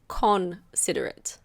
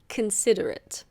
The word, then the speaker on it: considerate: It's not considerate. The O is a schwa, so it's considerate.